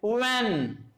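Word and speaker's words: when: इसको क्या बोलते हैं वैन। अब यहां पर एच साइलेंट रहेगा, ध्यान रखना जब भी डब्ल्यू के बाद तुरंत बाद एच दिया होगा वो हमेशा साइलेंट रहता है, तो हमारा क्या आ गया व।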